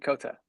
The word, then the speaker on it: Kota: And Kota, right? Yes? No? Kota, yep. All right. You say it for us so we can hear No, it. it's yeah, you said it right, Kota.